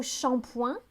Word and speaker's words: shampooing: On a le mot shampoing. Ça sonne très français, mais c'est shampooing à la base.